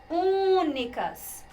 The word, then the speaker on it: únicas: Pronuncia pérolas, únicas. A sílaba tônica está aqui.